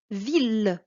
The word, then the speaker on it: ville: regarder ces mots là il y a le mot ville tu vois on a ide aux ailes mais ici c'est ce qu'on appelle une exception ça se prononce il c'est la même chose